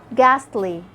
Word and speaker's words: ghastly: Sometimes when I have a GH at the beginning of a word, the H is silent and I only pronounce the sound of the G. Like when you say ghost, ghee, ghastly.